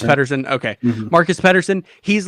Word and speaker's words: Pedersen: It's Pedersen.